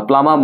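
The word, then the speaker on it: plumbum: প্লামবাম। ওকে, প্লামবাম বা প্লামাম বলা উচিত আসলে সঠিক উচ্চারণ।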